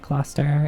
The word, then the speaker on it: Gloucester: I see that's how the actual city of Cluster in Britain is pronounced.